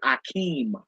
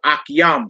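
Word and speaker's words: אחים: If you want to say brother, if you want to say brothers, you would say akim or akiam. Some brothers say akiam or akim.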